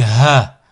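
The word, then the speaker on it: ح: Ha, comme Hada. Et on verra aussi par la suite. Là, au niveau de la transcription phonétique, c'est pas évident à retranscrire. Ha, Hada. Hilal.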